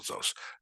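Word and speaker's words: זֹאת: See, it's on the first syllable here. Mapach, but it's the first syllable. It's actually one syllable, Zos.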